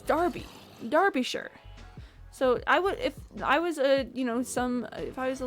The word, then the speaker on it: Derbyshire: Okay, so it's spelled like D-E-R-B-Y S-H-I-R-E. You would think it'd be pronounced Derbyshire if you were American.